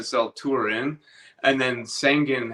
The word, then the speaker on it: Sangin: questions for you um how do you say sangen again s so so you almost got it it's it's pronounced sangan Sang's a Sang's a city in Afghanistan that